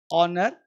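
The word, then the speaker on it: honour: आवर्स आवर्स आ है इसे horror नहीं बोलते हॉर्नर नहीं बोलते हियर नहीं बोलते बोलते हैं आर ऑनर एयर अब देखो आवर घंटा ऑनर इज्जत समान एयर मतलब उत्तराधिकारी यहां पे एच जो है वो साइलेंट है एच का प्रोनंसिएशन नहीं होता है यह ध्यान देना है साइलेंट रहता है।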